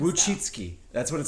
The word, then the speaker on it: Wojcicki: But so basically, in this podcast, though, they talked about YouTube has a very Susan Wojcicki, what's her name?